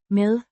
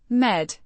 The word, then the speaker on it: med: med, Means with or along, pronounced med, med, with a short e, sound.